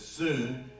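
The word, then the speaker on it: σύν: It's spelled sun, but it's soon.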